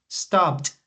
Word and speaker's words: stopped: exaggerate the T sound I want you to exaggerate stop stopped okay do it again